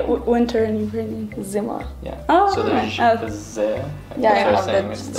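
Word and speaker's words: зима: Zima.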